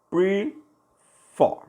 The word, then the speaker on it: prefer: Esse verbo aqui, prefer, né? Prefer. A sílaba tônica mais forte foi a última.